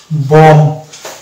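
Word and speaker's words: bomb: ধরে উচ্চারণ যদি করি তাহলে সেটা হয়ে যাবে বম অর্থাৎ এই শব্দটির একচুয়ালি প্রোনাউন্সিয়েশন হচ্ছে বম আমরা যদি এটাকে প্রোনাউন্সিয়েশন করি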